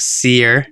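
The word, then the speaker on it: Sere: just run with it so xerox seer s-e-r-e that's how i pronounce it um wants to know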